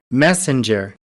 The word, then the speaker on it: messenger: पैसेंजर, मैसेंजर, पैसेंजर की तरह बिल्कुल, मैसेंजर।